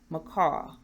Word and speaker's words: Miccau: From the very beginning, I'm giving my audience an image in order to say my name correctly. Macau, like the bird, but it's spelled differently.